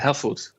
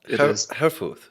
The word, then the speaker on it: Herfuth: Herfuth. Herfuth. Herfuth. Yeah, just forget about the last H and you're fine. Okay, Herfuth.